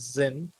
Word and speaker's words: Xyn: the cushion that says Zin. If you want me to spell that out for you, it's XYN, not Zen, not my name.